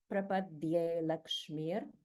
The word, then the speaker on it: prapadye lakshmir: And it is perfectly fine to pronounce it as prapadye lakshmir because it's understood that the a has been dropped because of the rules of sandhi in Sanskrit grammar.